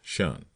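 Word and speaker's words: 'shun: Shun squad abbreviated from the attention and pronounced shun if the plea was slow.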